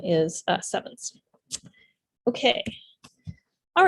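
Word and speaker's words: CEvNS: It's a Greek letter nu, which is pronounced like a V.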